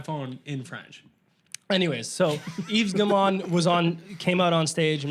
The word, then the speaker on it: Yves Guillemot: So the first thing that they did was they brought out Yves Guillemot. That was good. Yeah, that's how you pronounce his Is it name.